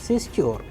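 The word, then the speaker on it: сестёр: Сестер нет в комнате нет сестер. So the stress is on the plural form of sistra in this case, which is сестер.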